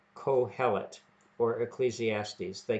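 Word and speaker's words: קהלת: That's how I understand you are to pronounce it, Kohelet.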